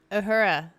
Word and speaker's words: Uhura: No, Uhura. What? Uhura.